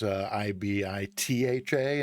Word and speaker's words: Ibiza: But I was pretty sure I had heard Brits pronounce it Ibiza, like it was Ibitha instead of Ibiza.